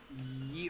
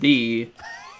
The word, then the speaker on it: Ye: So the ye is actually, it is pronounced the, because it's an old it's Old English. That letter is actually a th sound.